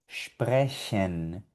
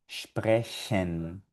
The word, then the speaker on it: sprechen: Aquí tenemos otra palabrita con CH y suena sprechen, sprechen. Ya no suena como J.